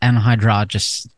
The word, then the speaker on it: anhydrous: So we're linking to this article about anhydrous. God damn it. Ammonia. I may not even pronounce it correctly. No, you anhydrous. No, you did pronounce it correctly.